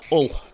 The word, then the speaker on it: Hull: But I'm quite posh. I say Hull with a H. Everyone else says Hull with a U.